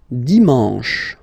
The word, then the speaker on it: dimanche: And the last one, dimanche, dimanche. You get the sh, sh, sh, sh, and then an, en, en, dimanche.